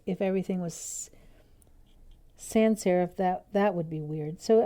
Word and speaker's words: sans serif: And then sans, it means without. So sans serif or sans serif means without decoration.